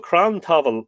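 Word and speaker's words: crann tabhaill: Crown Pavel on account now he's a definitely using the lenition so it's definitely V pronounced V in this case uh as this was called cram Tavon on account of having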